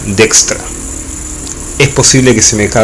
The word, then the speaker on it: Dijkstra: ciencias de la computación yo voy a pronunciar de extra pero durante muchos años no conoce dijkstra tal cual se lee en castellano y como seguramente lo van a escuchar nombrar muchas veces pero en las grandes la pronunciación correcta sería de extra es posible que se